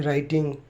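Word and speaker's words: writing: से पहले एस के बाद डब्लू साइलेंट होता है जैसे डब्लू आर ओ एन जी रंग डब्लू आर आई टी आई एन जी राइटिंग एस डब्लू ओ आर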